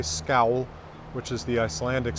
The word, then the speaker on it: Skál: ska with the acute a and above it pronounced scowl in islandic or skull in Fise that is